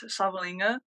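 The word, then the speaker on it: Savaliga: my name is Savalinga. Pronounced with an N, spelled without an N.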